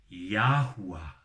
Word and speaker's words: Yahuah: Yod, Hei, Wah, Hei wird ausgesprochen in seiner korrekten Form der Aussprache Yahuwah.